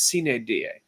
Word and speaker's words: sine die: done wrapped up with sin a die which by the way sidebar I took four years of Latin I will never be able to pronounce a sin it's c da right okay just so we